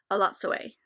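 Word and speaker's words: Elatsoe: I discovered I've been saying it wrong, thanks to the audiobook, A Lot Sway.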